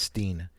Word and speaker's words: Stein: I think it's pronounced Steen.